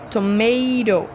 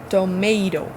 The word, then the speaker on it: tomato: Primeiro T com som de T. Segundo T com som mais enrolado aí, quase como um R. Tomato. Tomato.